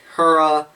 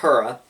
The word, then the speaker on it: Hera: They have fairly regular ergonomics other than the Apollo, Helios, Hera. Yes, I said Hera. It's actually pronounced Hera, but pronunciation is for nerds.